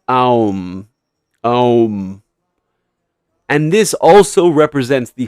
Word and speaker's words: Om: The final sound a mouth makes when closing or ending is m. For the mouth to for the m sound to be made, the mouth has to shut. M m. Ah. So it's the opposite, right? Ah is opening. Ah beginning sound comes out. M it ends. The u in between the a and the m is what brings them together. The beginning and the end. Right? It's om and this also represents the whole of reality.